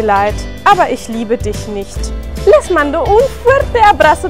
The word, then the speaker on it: nicht: Y en nicht, como la CH está después de una I, se pronuncia como una J sonriente.